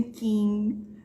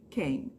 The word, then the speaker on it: King: coisas muito distintas Então não é Steven King é Steven quem o g também é quase quase muda é mudo né quem você não fala King se tiver quem adoro